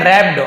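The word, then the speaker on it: wrapped: था, लपेटा हुआ था, यहाँ पे डब्ल्यू साइलेंट है, रैप्ड जैसे राइट होता है WRIT, तो वहां पे डब्ल्यू साइलेंट, वैसे भी डब्ल्यू के साथ आर होता है, डब्ल्यू साइलेंट होता है, लिखते जरूर है पढ़ते नहीं है, तो इसे रैप्ड पढ़ेंगे।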